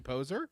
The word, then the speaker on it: Poser: Hey, we've got John Adams and Toby Poser. Yeah. Am I pronouncing that right?